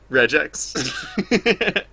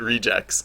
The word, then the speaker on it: regex: I pronounce it regex because I think if it was a word and not an abbreviation, it would be pronounced regex. I understand. Yeah, I think it's hilarious when people pronounce it rejects because that sounds like REJECTS.